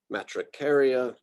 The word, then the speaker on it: Matricaria: very strongly about this, pronouncing the third to last syllable. I've got a group down here at the bottom that are the third to last, otherwise known as the antepenultimate syllable. It's sort of like when you can pronounce that as the emphasized syllable.